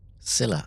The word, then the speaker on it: Scylla: Scylla, I did say it right.